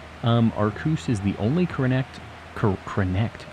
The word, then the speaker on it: Arceus: through the stream tonight the only correct pronunciation I only say aruse because uh I get harassed whether I say any other pronunciation it feels like arus is the only one that doesn't get me just slammed in chat so yeah it is